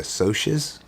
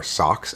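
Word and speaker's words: Socs: There's 2 groups, the greasers and the socias, or socks, S-O-C-S.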